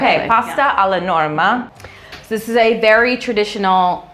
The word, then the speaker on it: pasta alla Norma: loves that I don't know how to say pasta La Norma Pasta Pasta I should say we are in Italy I should pronounce it correct okay pasta a la Norma this is a very traditional Sicilian dish you'll